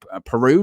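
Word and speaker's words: Perraud: 50 million who's that peru is how you say his name yes they brought those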